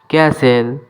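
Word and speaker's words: castle: no doubt no doubt ক্যাসেল এখানে টির উচ্চারণ হবে না ক্যাসেল মানে দুর্গ আমি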